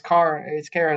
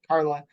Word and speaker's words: Kara: very respectfully was like, it's Kara, it's not Carla.